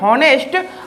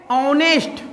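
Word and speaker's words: honest: इसको क्या पढ़ते हैं अक्सर लोग इसको पढ़ते हैं नेस्ट बट होता है ऑनेस्ट क्या होता है ऑनेस्ट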